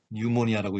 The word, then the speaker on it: pneumonia: 예를 들어 폐렴이라는 단어는 Pneumonia, 뉴모니아라고 읽는데 앞에 P가 묵음이지만 기억하기 좋도록 폐암모니아에 들어갔어,